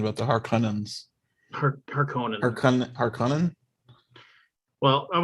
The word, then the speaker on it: Harkonnen: Kabuki has corrected my pronunciation about the Harkonnens. Harkonnen?